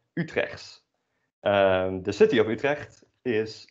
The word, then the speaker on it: Utrecht: But then pronounced according to local dialect, which is also called Utrechts.